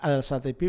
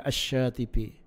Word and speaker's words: Asy-Syatibi: Tulisannya Al-Syatibi, bacanya Asy-Syatibi. Gitu ya.